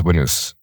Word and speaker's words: Winnaz: And what we built is our brand Winners. So you spell it WINNAZ, but it comes from winners.